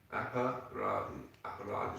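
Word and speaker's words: aparādha: I don't wish to embarrass him, but he said, aparad is two syllables. Apa, as we know, means against, and it's rada.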